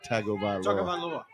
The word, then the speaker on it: Tagovailoa: Tagovailoa. Tagovailoa. That's it. Tagovailoa. There is no N in the name for Tagovailoa, but that's how it's pronounced.